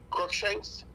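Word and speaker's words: Cruickshanks: uh your your name Shanks what is it crook Shanks okay spell it for me and and I'll r u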